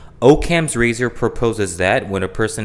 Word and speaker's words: Occam's razor: Okay, that's the pronunciation, Occam's razor.